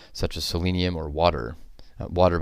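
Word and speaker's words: Watir: as selenium or water water by the way is spelled w a t i r my guess is that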